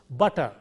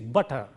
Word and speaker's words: butter: we shouldn't do that it will be pronounced as though there is only single T so it is butter similarly u TT e